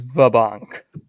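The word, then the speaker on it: Va banque: And then, amazingly enough, I know what the opening of Jeopardy in um Poland is pronounced as. It's like the only Polish thing I can say, which is vabank.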